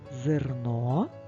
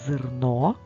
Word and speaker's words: зерно: верби верба верби друга пара слів зерно зерна в слові зерно звук е не наголошений а в слові зерна Ми добре його промовляємо сестра промов це